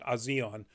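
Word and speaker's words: A'zion: And that is Odessa Azion, and I'm pronouncing that the way because there's an apostrophe between the A and the Z, so I'm going to go as a separate sound. Azion.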